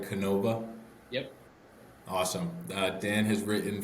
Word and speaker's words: Canova: Am I pronouncing this right? Canova.